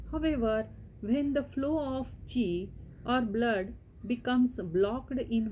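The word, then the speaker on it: 氣: There are 12 main acupuncture meridians, also known as channels, that carry energy, acu, chi, it is pronounced as chi, and blood to provide nourishment throughout the body.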